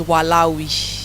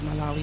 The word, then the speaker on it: Malawi: So, we're going to spell Malawi. Before, I don't know. Growing up, I thought it was Walawi, but then I realized it's Malawi, but we're going to try spell Malawi.